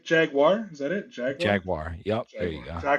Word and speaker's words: Jaguar: Is it Jaguar? What is Jaguar? Don't say wire.